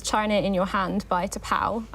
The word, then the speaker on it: T'Pau: THEY LAUGH Well, excerpt three is China In Your Hand by T'Pau. Yes. Not sure if I pronounced that right. Yeah. No, that is how you pronounce it.